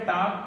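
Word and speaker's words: talk: है अगला वर्ड है टाक टाक में क्या है इसमें भी तीन लेटर है बीच में ए एल के इसमें हम क्या करेंगे एल को साइलेंट करेंगे और सीधा पढ़ेंगे हम इसको टक टक मीस होता है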